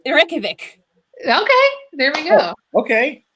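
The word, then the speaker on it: Reykjavík: Who can pronounce the capital of Iceland? Anyone? Ooh. Do I go? Yeah, go for it. It's Reykjavik.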